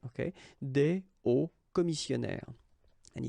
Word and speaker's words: hauts: And if you're a bit careful, you can hear that un haut commissionnaire and des hauts commissionnaires, well, clearly it is pronounced the same way. So you put the S at the end of both things here, okay, but then you don't pronounce them. So it will be phonetically almost the same, okay, in most of the cases.